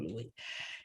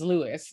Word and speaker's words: Louis: Like that's who I had a soft spot for, Louis, who I pronounced as Lewis until I heard the audiobook.